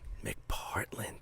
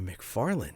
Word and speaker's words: McPartland: name is mcpartland how do you spell that mc capital p oh a-r-t-l-a-n-d mcpartlin dude i've been calling you mcfarland that's all right it's close enough forever that's all good dude i'm so psyched that you don't even give me the correction you're like dude it's yes it's a pee that's the worst yo